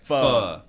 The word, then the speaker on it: pho: You know, it's becoming such a Pho mainstream 24.